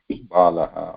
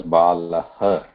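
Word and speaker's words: बालः: or pronouncing it as Balaha. So here the pronunciation has to be, ideally it should be Bala, Bala, not Balaha, Bala.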